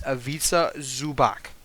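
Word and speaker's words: Ivica Zubac: in the middle of Isa zubach by the way so many commentators nowadays don't know how to pronounce his effing name dude it bothers me it's avisa zubach okay okay now we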